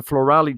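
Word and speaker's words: FLORALI: before the new england journal of medicine the floralee trial which is if you want to google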